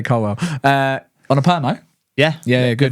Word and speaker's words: Colwill: It's Colwill. It's spelled Colwill. You say Colwell.